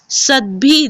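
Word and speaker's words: सद्भिः: उच्चारण पर ध्यान देंगे सद भी दिखने में ऐसा लग रहा है कि भ आधा है और द पूरा है लेकिन जब हम उच्चारण करते हैं तो हम द को आधा और भ को पूरा पढ़ते हैं सद भी रेव सद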